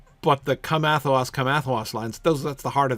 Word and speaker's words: Athelas: And so Athelas feels like a fish out of water in that line. Whereas if you pronounce it with the stress at the beginning of the first syllable, Athelas, come Athelas, come Athelas.